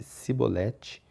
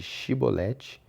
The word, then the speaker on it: shibolete: Os guardas exigiam que ele pronunciasse a palavra shibolete. Se ele não fosse capaz de pronunciar a palavra e pronunciasse cibolete em vez de shibolete, ficava claro que estava mentindo.